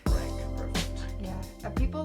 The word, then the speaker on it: Renk: Ellen, how do you pronounce your last name? Rank. Renk, perfect.